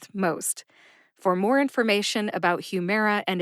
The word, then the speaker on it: Humira: uh Humera Humera now the second syllable mayor gets the emphasis what does that mean gets the emphasis it means you stress mayor more than the other syllables see if you can